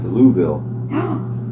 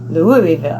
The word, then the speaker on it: Louisville: So then we went to the Magnolia Bar in Louisville. I don't know how they do it with their voice. They like stutter it. Julie wouldn't probably know how to say it right. Louisville.